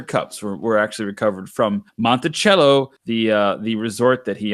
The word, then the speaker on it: Monticello: find that all on Monticello org or month Monticello as some folks from the neighboring Barbados Islands you know pronounce it so I thought